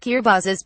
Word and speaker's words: Kiribati: Singapore of the Pacific Kira bass pronounced kir buzzes by locals is made up of